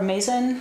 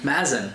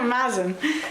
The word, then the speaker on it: Mazen: your last name correctly I'm never sure if it's maen or Mason maen ma m sorry ma ma like jazz sorry about that yeah maen thank you very much